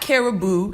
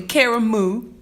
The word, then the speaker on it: Karamu: And it's not Caribou. It's really Karamu.